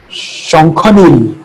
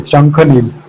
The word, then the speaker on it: Shankhanil: It's not really Shaunak, it's Shankhanil. Oh, okay, Shankhanil.